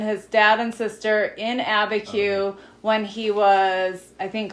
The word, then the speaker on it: Abiquiu: And Dain said, "That's Abiquiu.